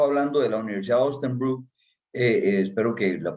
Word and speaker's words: Osnabrück: Usted ha estado hablando de la Universidad de Osnabrück, espero que la pronuncie por lo menos cercanamente. Es Osnabrück.